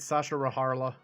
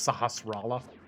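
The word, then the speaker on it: Sahasrahla: Alright, Sasha Raharla. Which is what I used to call him when I was a kid. Sasha Raharla. I couldn't pronounce Sahasrara.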